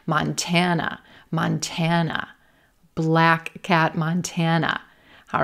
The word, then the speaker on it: Montana: It's a ma, mon, mon, but it's not stressed. We're not going to stretch it. We're not giving it the open hand treatment. And then we have a schwa, as our final syllable.